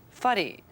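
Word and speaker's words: whare: fare, house or building, faddy.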